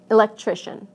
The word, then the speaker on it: electrician: And adding this to electric becomes electrician.